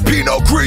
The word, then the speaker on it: Pinot Gris: Paired with the finest French blends of Pinot Gris. It's Pinot Gris, you don't pronounce the S.